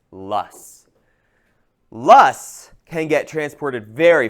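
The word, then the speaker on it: loess: Les SS pronounced lust.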